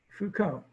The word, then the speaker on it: Foucault: Yep, the Foucault pendulum. Again, that's French. So here we go with the Foucault pendulum. Foucault. One of my daughters took French, so I know how to pronounce it. Foucault pendulum.